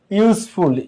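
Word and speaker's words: useful: ইউজফুল, ইউ ইউ এর মতোই উচ্চারিত হচ্ছে।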